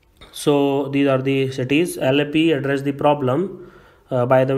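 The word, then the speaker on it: Alleppey: Now those people who are not from Kerala usually pronounced it, especially the North Indian pronounced it Alla Pooja, but I have a lot of Malayali friends, so they call it Alappi. So I hope I am pronouncing it right.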